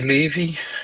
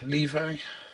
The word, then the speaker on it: Levi: That's all Zachary Levy. Levi.